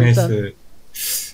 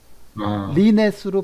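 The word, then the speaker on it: LeNet: 자, 일단 르네스 잘 파악을 했네. 네, 르네스에 아, 대해서 르네시 아니고 리넷이라고 그랬나? 그러니까 르네스로 발음해도 되고 리넷으로 발음해도 될것 같아요.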